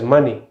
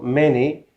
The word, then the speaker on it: many: 19 many many many the wrong pronunciation is money so now there's o instead of a there's o money and that means currency so many okay much we use many with countable names we use much with plural so the correct pronunciation is many not money and finally basically basically basically